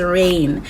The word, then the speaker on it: Reign: next show that i highly highly recommend is rain pronounced r-e-i-g-n the show is so bomb it follows